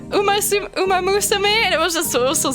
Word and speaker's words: Umamusume: she called it like Umama Sume or something. Umama Sume. Instead of Umamusume, and it was just